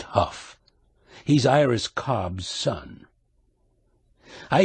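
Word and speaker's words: Hough: Dennis what's his name h o u g h pronounced Huff he's Iris Cobb's son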